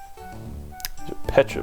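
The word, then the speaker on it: Pecha: is really helpful um Petra berries that is the correct pronunciation um for some reason when I was eight me and my friends all called them Pizza berries um even though there's not another vowel in there so I don't know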